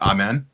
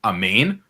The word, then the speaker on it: amen: it in hebrew is a main just so that we're all clear it's not m-e-n it's actually like m-a-i-n so and you know